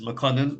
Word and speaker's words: Makonnen: And my name is McConan. That is spelled MAKONNEN, or you can just put simply the Black Book Show host.